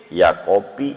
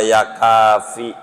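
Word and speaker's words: يا كافي: doa susah dia wirid ya kopi ya rujak ya kopi ya rujak ya kopi ya rujak manjur Kagak ngantuk-ngantuk salah dengar suruh baca ya kafi bacanya Ya kopi aduh yakin majur keyakinan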